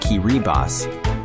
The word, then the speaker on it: Kiribati: It's Kiribati, pronounced Kiribass.